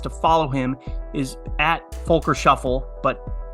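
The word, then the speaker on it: Volker Schöffl: follow him is at Folker Shuffle but keep in mind it's German pronunciation so his name is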